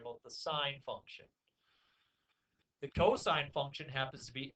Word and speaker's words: cosine: cos I and II sometimes people look at it they think it's silly to say cosine this it costs mister against what's the cost no saint cosine yeah don't don't don't say cost say cosine you sound much more intelligent when you say cosine sometimes people do say